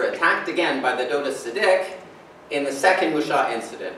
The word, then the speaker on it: Seediq: This word is stressed, the last syllable, Seediq. It's only got two syllables.